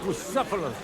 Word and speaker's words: Bucephalus: What kind of name is Bucephalus anyway? It's pronounced Bucephalus.